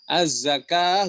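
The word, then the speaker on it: الزكاة: Az-zakah juga sama, tulisannya az-zakawah.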